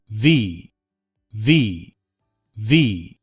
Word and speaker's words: V: 여기 읍도 F 럼 윗니를 아랫 입술에 살짝 닿게 해야 합니다 그래서 바람 소리가 나게 V V 들어 볼까요 v v V 하지만 듣는 사람도 이해하도록